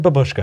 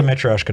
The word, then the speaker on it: matryoshka: So I said babushka, and I got emails and messages and every different, it's called a matryoshka doll. You need to quit calling it a babushka doll.